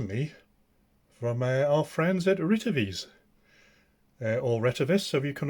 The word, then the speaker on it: Retevis: Now then, this one has been sent to me from our friends at RETEVIS, or RETEVIS, so you can all, but apparently it's pronounced as RETEVIS.